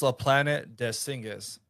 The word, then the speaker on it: La Planète des Singes: So, the French version, the E is silent, so it's La Planète des Singes.